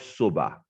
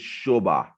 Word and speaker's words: Sobha: shoba group the name shubha so it's not soba i know so for a lot of people if english is your first language it looks like sabah or soba so it's shobha that's how it's pronounced the name shuba comes